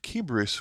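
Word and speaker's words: Kıbrıs: a Brit and then I believe keus would be how the Turkish uh pronounce Cyprus then I believe this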